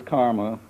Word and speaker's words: CCRMA: in music and Acoustics referred to as karma ccrma and pronounced by us Karma uh and it's indeed